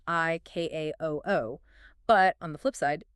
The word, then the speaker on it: ICAO: But you never say the individual letters. The manual explicitly mandates the pronunciation I K A O O.